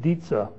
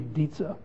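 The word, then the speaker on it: Dietze: a political scientist at John's Hopkins named godfried daza uh wrote a great little book called America's political dilemma and that's spelled D IE T Ze godfre daza and America's political dilemma he explains this he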